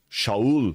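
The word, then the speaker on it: שאול: primeiro rei de Israel foi o Rei Saul shaul que significa o desejado né aquele que foi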